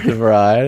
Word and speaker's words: De Vrij: De Vrij, that's a good shout. I like that you're getting some good Dutch pronunciation.